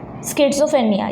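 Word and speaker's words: schizophrenia: ये जो इसको क्या बोलते हैं, इसका प्रोनाउंसिएशन स्किज़ोफ्रेनिया, यस, स्किज़ोफ्रेनिया।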